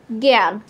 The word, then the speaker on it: জ্ঞান: জ্ঞান বলি।